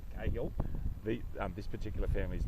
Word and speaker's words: Cahill: South Australians pronounce it Cahill. And Darren Cahill played tennis for Australia in Davis Cup. His father was John Cahill, who was coach of Port Adelaide Football Club, but they say Cahill.